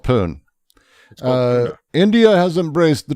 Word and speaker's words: Pune: Um India's first Trump banded commercial and office development in pun.